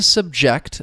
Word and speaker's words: subject: To subject is the verb. The stress is on that second syllable. Subject.